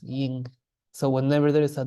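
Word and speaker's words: དབྱིངས: So this would be spelled Dao, Ba, Yatak, Ja, Giku, Ji, Nga, Sa, Ying. So this is the surprise that this is not pronounced Jing, this is pronounced Ying.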